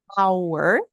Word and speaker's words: our: que ele não tava a pronuncia igual hora our significa nosso ou Nossa